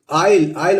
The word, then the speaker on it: isle: और ये भी देखिए दोस्तों ISLE, इसको इसलिए नहीं पढ़ेंगे, इसको भी पढ़ेंगे आइल।